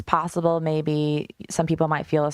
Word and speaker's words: Miami: May and it's spelled like Miami Florida but pronounced May and I'm from that town it's about 11,000